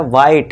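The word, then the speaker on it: white: हर जगह जहां भी आपको इंग्लिश वर्ड में इ लास्ट में इ दिख जाए तो वहां पे आपको साइलेंट करना है। तो यहां भी देखिए साइलेंट है। ठीक है दोस्तों? तो ये बनेगा वाइट।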